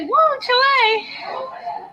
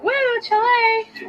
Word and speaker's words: whew chile: How do you say woo Chile? You said what? Woo Chile. Woo Chile. Like WHEW Chile. It's woo.